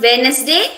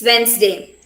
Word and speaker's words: Wednesday: the god of war wednesday it was named after warden who's a deity thursday is named after thor and friday it's named after a goddess whose name is freya so it's not wednesday it's wednesday this word etc uh